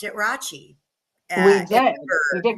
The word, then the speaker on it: Rathjen: you guys pronounced it Rachie. And we did. We did because that's technically how you're supposed to pronounce it. You know, it's a German last name, but you guys in Cedar Rapids always pronounce it as Rathjen.